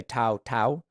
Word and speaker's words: Tou Thao: actually it's I think if you were to pronounce it correctly it's like Tau Tau you know but I think in colloquial English we just say Tao Tao uh it's t-o-u-t-h-a-o is